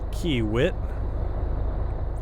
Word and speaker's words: Kiewit: or me turning onto Cimarron Avenue going to Kiewit that's how it's pronounced and pick up our excavator bound for